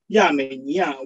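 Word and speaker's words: 亚美尼亚: In the Chinese name, Armenia is pronounced as Yamenia, where its hieroglyph means beautiful maids of Asia.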